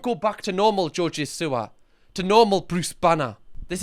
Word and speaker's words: Siwa: Also, so many people in the previous video I did on JoJo Siwa, I was thinking that I'm saying JoJo Siwa. Like a sewer. Apparently I say it wrong. Apparently it's JoJo Siwa.